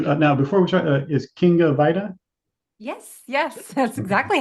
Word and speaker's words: Kinga Vajda: Now, before we start is King of Vita. Yes. Yes. That's exactly how you pronounce it.